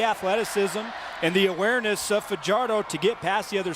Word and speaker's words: Fajardo: Now many would pronounce his last name Farardo. He pronounces it Fajardo.